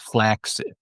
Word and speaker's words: flaccid: pun intended, was that the word flaccid is actually pronounced flaxid.